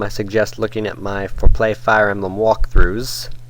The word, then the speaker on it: For Play: Now, if you want to know the basics of Fire Emblem, I suggest looking at my For Play Fire Emblem walkthroughs, accent on the play, not the for.